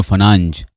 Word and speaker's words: Fernandes: It involves um Bruno Fernandez or Bruno Fernanch as they pronounce it in Portugal.